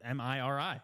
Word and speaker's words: Miri: Yeah, Miri. It's like that Miri. Yeah, it's not Zach Mary. and Murray.